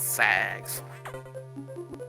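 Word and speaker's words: SA-X: Sax. Actually, that's how I pronounce it. It's sax.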